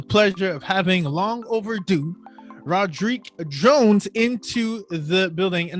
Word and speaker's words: Roddrick: I pronounce it Roddrick, but Roddrick is pretty dope.